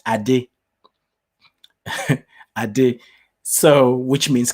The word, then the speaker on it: Ade: with my name there are many variations there's and i i often joke but it's true i don't even say my name correctly but it's not that i don't say correctly i say in the way that makes it easier um for people in the western world to be able to say it because my right the correct pronunciation is adi i did so which